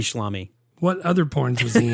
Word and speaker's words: Schlamme: Schlamme. What other porns was he in other than... It's not Tommy Salami. It's Schlamme.